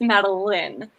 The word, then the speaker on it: Madeline: um but it pronounced madeleine that's where people get confused it's because it's spelled the same way as madeline from the books but it's pronounced like there's the extra e in it so okay because i've